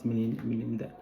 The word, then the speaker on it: Milinda: Anyway, the story goes that story or semi-historical story goes that there was this Greco-Indian emperor called Menander, the Greek pronunciation, and the Buddhist pronunciation is Milinda.